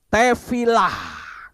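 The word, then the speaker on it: תפילה: huruf Ibrani seperti itu tefilah itu membacanya tefila tapi hurufnya tetap ada yaitu he he artinya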